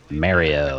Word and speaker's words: Mario: That just makes me think of how British and Canadian people like to say Mario's name wrong, even though Mario says his own name out loud. Mario. Sorry, guys. It's Mario. You don't get to make up It's how to Mario. say somebody else's name.